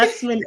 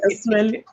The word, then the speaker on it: Usman: So once again, I keep saying Usman. Is that the correct pronunciation of your Yeah. name? Oh, That's the way I pronounce it. So okay. Usman, Usman.